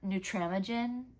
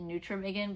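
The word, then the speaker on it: Nutramigen: I believe it's pronounced neutra neutramogen. I kept calling it neutramiggan, but that's like facts wrong. I think it's neutramogen, but I also could be saying that wrong, too.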